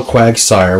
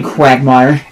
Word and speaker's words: Quagsire: you said hello Quagsire which is the actual name quagmire and then you said I mean quagmire and it's like no quagmire is actually the Family Guy character you said it right the first time I don't know if